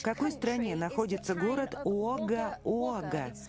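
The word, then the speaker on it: Wagga Wagga: Крис, в какой стране находится город Уага-Уага? Читается У-О-Га.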